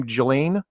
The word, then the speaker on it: Ghislaine: You don't need him and how you pronounce her name? Ghislaine?